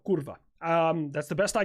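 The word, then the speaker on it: kurwa: pronoun pronunciation of kurva I learned that polish pronounce W's as V's in the same way that Russia does so kurva um that's the best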